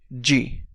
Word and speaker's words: de: it one more time G and yes the pronunciation is exactly like the English letter G this is followed by